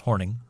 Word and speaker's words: Hornung: Bay Packers halfback Paul hornung horning it I know it doesn't look like that but it's pronounced horning oh and Detroit Lions